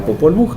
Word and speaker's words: Popol Vuh: Eh y también estandariza que la V se convierte en doble V para que se pronuncie de otra ajá, que se pronuncie de otra manera, entonces se establece que se diga Popol Vuh.